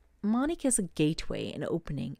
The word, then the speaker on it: Manik: So the card here, Manik, it's pronounced Manik.